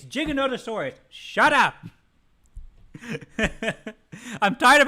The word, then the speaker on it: Giganotosaurus: like how you mispronounce Giganotosaurus shut up Stu it's Giganotosaurus any other way is wrong because any other way you you are inadvertently implying that gigantic is the way to say it's not how you say it